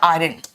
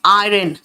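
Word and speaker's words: iron: कपड़े इस्त्री कर दो, इस्त्री का इंग्लिश दो हो सकता है, प्रेस या आयरन। बेटा लिखते हैं आयरन, और यहां पे साइलेंट होता है। आयरन the clothes.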